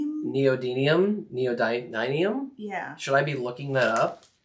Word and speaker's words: Neodymium: Not if you use those really thin, like I can never say the word neodymium. Neodymium. Yeah. Should I be looking that up? How do you even spell that?